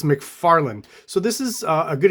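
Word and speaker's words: McFarlane: comes to Tom mcfarling you heard how I pronounce it McFarlan I've been told that it's McFarland so this is a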